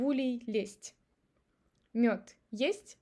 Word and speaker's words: лезть: Z becomes devocalized because of following t, лезть, and we pronounce it as s.